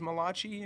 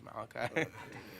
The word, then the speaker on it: Malakai: And they'll be like Malakai instead of, oh, is Malachi in class today? Malakai, are you here? And I'm like, oh, yes, it's Malakai. You just butchered my name.